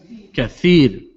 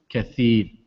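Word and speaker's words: كثير: Kathir. When we say tha, your tongue comes out in between your teeth. Kathir.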